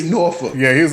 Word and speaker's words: Norfolk: It's not Norfolk. And I don't care if it's spelled Norfolk, like Norfolk. No, it's Norfolk. Yeah. There you go. N-A-W-F-U-C-K. Like, yeah. You say that shit again. N-A-W-F-U-C-K. Norfolk. That's Where true. you from? Norfolk. Like Norfolk. You know when people are out of town trying to say Norfolk, you know, because they don't say, they like Norfolk. It's like nope, that's not how you say it.